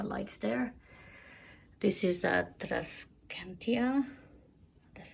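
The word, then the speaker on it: Tradescantia: This is the Trascantia.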